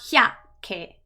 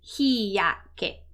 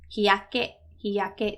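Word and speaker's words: 日焼け: This is not a little ya. It's a normal ya. So it's not hyake, it's hiyake, hiyake, that's sunburn.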